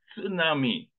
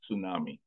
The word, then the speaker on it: tsunami: means Harbor Nami means wave in Japan they pronounce that one as tsunami they it is he is not silent but somewhere in America they were not able to pronounce that way so they started pronouncing tsunami the same way psychology that peace not silent